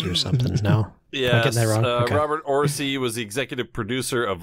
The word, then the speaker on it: Orci: Is that how you pronounce that? Orci? Orci? Orci? I think it's Orci. Orci. Yeah, we'll go with that. And Robert Orci.